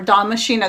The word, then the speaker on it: damascena: Now here's the thing, even if the Love in a Mist, the Nigella damascena, or damascena, there's like 4 different ways to pronounce it.